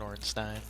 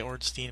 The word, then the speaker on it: Ornstein: quest to fight Smogon Ornstein I usually say Ornstein but I think it actually is pronounced Ornstein oh well level up